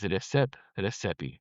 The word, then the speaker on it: Rexhep Rexhepi: His name is Rexhep Rexhepi, spelled Rexhep, Rexhepi. You may hear it pronounced Rexhep, but my understanding is that it's Rexhep.